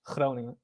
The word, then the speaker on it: Groningen: the name of my city in Dutch is Groningen.